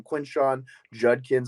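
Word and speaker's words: Quinshon Judkins: with Zach Evans and Quinn shot or Judkins or however you say his name Quinn Shawn juddkins I think is how you say his name those two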